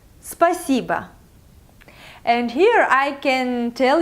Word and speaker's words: спасибо: So the first part of this word, spa, it's like day spa, all these nice things, spa. And then the second part is si, like sea water.